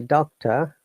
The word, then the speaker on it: doctor: pharmacists and and the doctor there is a lung sound but because it's a british accent so r is silent but in american accent